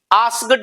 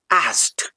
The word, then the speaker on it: asked: बोलता हूं, जैसे आस्क, ASKED, आस्क्ड नहीं, बहुत सारे लोगों को आपने सुना होगा वो आस्क्ड बोलते हैं, नहीं, the right pronunciation is आस्क्ड।